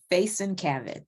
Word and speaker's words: Faison-Cavitt: Faison-Cavitt. Well, you can say Have it. Faison. Okay, so the T's are pronounced.